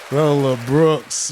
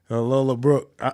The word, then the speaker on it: Lola Brooke: Lola Brooks, man. Lola Brooke. I know her name Lola Brooke, but I'm going to say it wrong on purpose.